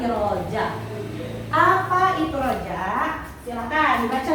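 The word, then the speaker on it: رجاء: Itu dibacanya bukan raja ya, tapi roja.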